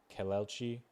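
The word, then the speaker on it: Kelechi: My friend's name is Kelchi. It's pronounced Kelelchi. Kalechi.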